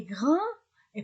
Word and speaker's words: grande: Il est grand. Et pour le féminin, j'ajoute e. Elle est grande. Je, tu, il. Je ne prononce pas des. Et pour elle, je prononce des.